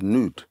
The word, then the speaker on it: Nod: Land of Nod um in the language is actually pronounced as nude but nod is where